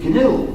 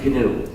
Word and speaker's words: GNU: not new anymore but it still is canoe and it will always be canoe there's another erroneous pronunciation